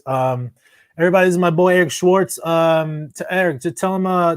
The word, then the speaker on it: Schwartz: CS c h w a r TZ it's pronounced Eric Schwarz and then like a scratch and then uh